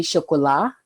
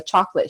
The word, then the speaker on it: Chocolat: guys watched that movie chocola it's like chocolate but it's french chocolate i think that's how they say it but it's one of